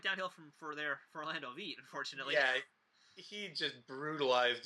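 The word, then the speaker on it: Wiet: and V you know it's spelled with a W but it's pronounced with a V it's V yeah Orlando V yeah like VG go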